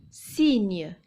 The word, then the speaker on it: cygne: Le deuxième mot, cygne. Il y a un y après le c et ça se prononce également ce, cygne.